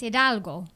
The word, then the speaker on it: Hidalgo: Hidalgo.